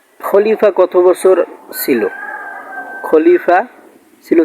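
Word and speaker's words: خليفة: ইন্নী জাইলু feel আরদি খলিফা। আল্লাহ পাক রব্বুল আলামিন স্পষ্ট উচ্চারণ হলো খলিফা, অর্থাৎ পৃথিবীতে যদি আল্লাহ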